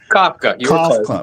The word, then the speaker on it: Kafka: Kafka. Yeah. Mike Kafka. I had to just think about the author. You know, it's the same pronunciation.